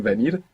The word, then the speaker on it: venir: would get the spelling venir. But more commonly, you would hear venir. Venir, Venir. like a soft B.